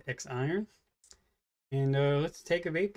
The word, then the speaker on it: X IRON: The Vaporesso X IRON, or Z-Ron, depending on how you pronounce it. Looks like it's X IRON.